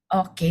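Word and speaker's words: 어: Oke, N. Oke, mungkin boleh kasih tahu, Kak. Yang ini vokal huruf vokal apa ya? Eh, vokal O. B, Mas. Iya, betul. Heeh. Tulisannya eo tapi bacanya O.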